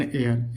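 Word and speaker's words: heir: कह रहा है कि जिन शब्दों में एच साइलेंट रहता है उनके पहले भी ए का प्रयोग करते हैं। मतलब एच तो होता है लेकिन ए साइलेंट होता है, इसको नहीं बोलते। An hour, an honest man, N honourable man, एन एयर, यानी सब में क्या है प्यारे बच्चों? एच साइलेंट है, इसलिए हम क्या करेंगे? एन का प्रयोग करेंगे।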